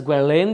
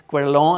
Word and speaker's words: Guerlain: brushes by gwen long i know i pronounced it as guerlain the other day i was corrected it's quite long i'm sure i'm still not getting the french accent so much i'm i